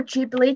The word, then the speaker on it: Ghibli: pick is um the studio ghibli or jubilee depending on how you personally pronounce it i say gibbly i don't know why